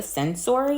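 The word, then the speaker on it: Censori: Wes and his wife Bianca sensor I believe is how you pronounce her last name and they were at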